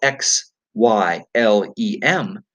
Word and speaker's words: xylem: word xylem is spelled x/y lem and we pronounce it xylem like a Z so the roots absorb